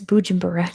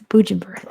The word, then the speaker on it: Bujumbura: Anyway, it's Bujumbura. Good job to girl for getting that. It's Bujumbura. They renamed Usumbura to Bujumbura. It's correct pronunciation, not its colonial one.